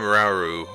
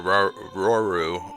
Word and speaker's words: Rauru: I'm Rauru, or Roru, or Rauru, however you want to pronounce it.